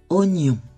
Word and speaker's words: oignon: travaille le son gne les lettres GN se prononcent gne comme dans oignon gagner peigne vous connaissez